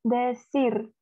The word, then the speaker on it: decir: C dibaca S kalau bertemu I dan E. Kalau ketemu A, O, U, bacanya K.